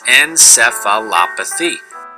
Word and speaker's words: encephalopathy: is hepatic encephalopathy now the proper pronunciation of the encephalopathy is encephalopathy now in this condition patek